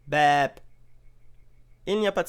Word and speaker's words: แบบ: เบง La consonne initiale est le B, la voyelle c'est le E long, et la consonne finale c'est le B aussi, mais il est prononcé P. Donc, BEP.